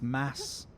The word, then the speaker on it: Mads: According to Kim, the D is silent. It's it's mass I guess mass Mickelson.